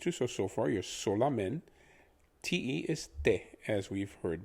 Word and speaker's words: solamente: for only is solamente now if you're pronouncing this with english pronunciation the so would be so like so as in you're sewing something or so what la would be similar to the musical scale doremi fasola so we have sola men is similar to